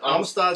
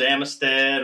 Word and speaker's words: Amistad: to uh to Lake I always call it Amistad what do you guys Amistad is correct you hear a lot of pronunciations Amistad or or the locals call it Amistad so I'm always afraid when I talk to